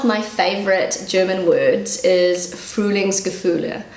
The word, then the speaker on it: Frühlingsgefühle: So one of my favorite German words is Frühlingsgefühle. So that's how I pronounce it and this is how Google pronounces it.